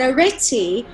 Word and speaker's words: Arete: So I heard of this amazing name called Arete. Am I pronouncing it correctly? You are. It's actually, in Greek it's Arete, but Arete is an ancient Greek mythology goddess.